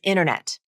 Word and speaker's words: internet: ation like the word internet what happened to the first t consonant it's there in the spelling I clearly see two t letters but only the second T is pronounced what happened to the